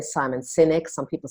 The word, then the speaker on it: Sinek: little bit more about Simon how do you pronounce him some people say simon Sinek some people says Simon sign it what would you say as his natives in